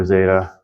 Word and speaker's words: zeta: easier I'll take the the number three for Roseta and that's always going to be Z isn't like Zoo uh then there's Ada this